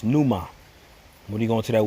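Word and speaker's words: πνεῦμα: Spirit there in the Greek that word is pronounced Numa when you go into that word spirit in the Greek that word spirit is pronounced Numa and that's where you get like pneumonia respiratory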